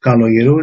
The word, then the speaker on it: Kaloyerou: My name is Professor Kaloyerou. It's a Greek name. K is pronounced as a G.